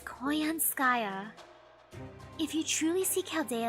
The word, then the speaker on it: Koyanskaya: I mean, Konanskaya? Aw man, I said her name wrong. Whoops, it's Konanskaya. Or, what was the other one you called her? Koyanska? Sky or something like that? It's Koyanskaya.